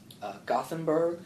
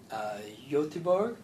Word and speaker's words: Göteborg: It's in Gothenburg, so they pronounce it Göteborg.